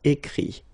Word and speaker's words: écrit: I-R-E, here, I-T, but then phonetically it's I as well, because you don't pronounce the final T, okay? Écrire, écrit.